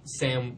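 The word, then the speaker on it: Sa5m: Now, I love Sam with the five, and then the five is silent.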